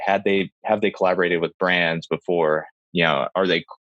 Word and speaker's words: Collabor8: the App Store called Collaborate. I don't know if you've ever heard of it. It's like spelled like collab, and then the number 8.